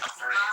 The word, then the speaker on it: Bahrain: It's pronounced Bahrain.